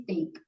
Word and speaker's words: steak: ya doesn't love stick bukan stick tapi steak kalau sck kan artinya tongkat ya number three our grandfather